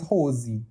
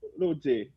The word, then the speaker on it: Rosé: pelo que eu prestei, eu não prestei tanta atenção, mas eu entendi elas falando mais Rose, Rose, Mas quando ela fala. é porque a pronúncia em coreana seria Rosé, né?